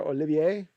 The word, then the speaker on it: Olivier: from Justin dunk Pierre Olivier yep pronounced like Olivier Vernon or like Lawrence Olivier and the key is